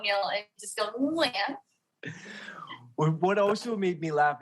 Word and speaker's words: Nguyen: back there like Nguyen, whereas the N in English is on the tip of your tongue, right? Like Nancy, right? So it's total opposites, really, which is why when people always ask me, how do you say your last name in English? You literally can't because they're just different worlds, right? But yeah, so just aim for the back of your throat, Neil, and just go, Nguyen.